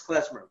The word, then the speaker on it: klezmer: but the tool of the music and the pronunciation is klezmer so alright I'll play you a melody we'll